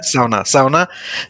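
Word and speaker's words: Sauna: হ্যাঁ, সাউনা সাউনা। কিন্তু জার্মানিতে এস এর উচ্চারণ হচ্ছে জেড। হ্যাঁ, জাউনা বলে এখানে।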